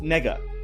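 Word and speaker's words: 那个: word they're not okay it's a real word and it's pronounced nega okay and there's nothing wrong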